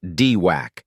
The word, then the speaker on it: DWAC: freak out digital world or dwac pronounced dwac is what is known